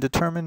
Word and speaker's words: determine: point out here is the sound of this I. Now, the rule that we just learned about the silent E is that this I should be a long I. But guess what? It's not.